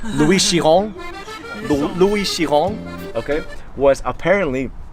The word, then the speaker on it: Chiron: So Louis Chiron, I didn't pronounce that perfectly. It's Louis Chiron.